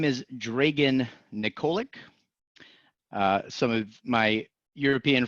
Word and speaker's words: Dragan: in the United States, Dragan, like Reagan, but with a D, is definitely a much easier word to pronounce.